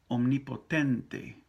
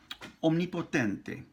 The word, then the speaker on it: omnipotente: Now, omnipotente. O. Om. And then ni. In English, you're going to say omne. E. That E sound ain't going to happen in Espanol.